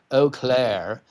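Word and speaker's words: Eau Claire: right this was in oair Wisconsin don't know why they pronounce like that it's O Clair Wisconsin oh but you know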